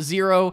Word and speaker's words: Xero: spelled X ero pronounced zero but but it is spelled x-e-r-o so that's zero uh accounting and they